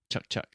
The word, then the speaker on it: chuck: a woodchuck chuck perfect Chuck nice this is a great way to remember that the CH sound in English is normally like a th in Portuguese at least in karaokeish